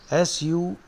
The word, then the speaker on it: suave: S-U-A-V-E. Suave means very refined. The pronunciation is suave. Spelling is S-U-A-V-E. Suave. No, suave. Very sophisticated, very cultured, very refined.